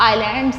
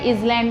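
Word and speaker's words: islands: mountains और group of आईलैंड्स इसे हम आईलैंड्स बोलेंगे बीच वाला साइलेंट है आयरलैंड नहीं आयरलैंड इनके पहले भी हम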